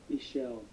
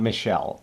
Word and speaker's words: Michel: Michelle. Michelle. Okay. That was me looking up how to pronounce the artist director's first name, which apparently is Michelle. It's not Michelle, it's Michel, because he's a dude.